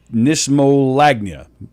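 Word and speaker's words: knismolagnia: kitchenware i don't know think of knives kn that's why roleplay i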